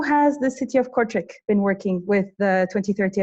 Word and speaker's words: Kortrijk: in Flanders, to the second youngest councillor of Kortrijk, if I pronounced that city correctly.